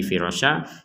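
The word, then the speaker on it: فِرَاشًا: Jadi kalau berhenti di firasyah menjadi firasyah.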